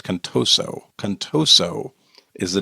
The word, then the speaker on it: Contoso: I said Contosa. It's Contoso.